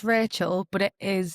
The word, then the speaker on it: Rachelle: So, it's Rachel, but it is spelled like Relle cuz like me mom's got this whole explanation that's very long, but yeah, it's pronounced like Rachel.